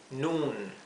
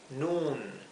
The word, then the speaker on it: noon: Noon. ¿Sí? En inglés la doble O se pronuncia U, como una U larga.